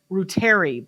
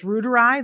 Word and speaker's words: reuteri: I say reuteri, but it's reuteri. That's how you say it.